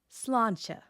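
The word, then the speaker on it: sláinte: The slawn part has a fada, which lengthens that vowel. The end has a slender consonant cluster. Put it together and you get slawn-cha.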